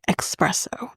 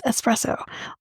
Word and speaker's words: espresso: Especially when it's not, when people say espresso. No, it's espresso.